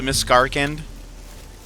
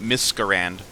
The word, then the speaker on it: Miscarcand: ready to go to miss garend I've been mispronouncing it this whole time I've been calling it Mis Garand kind of like how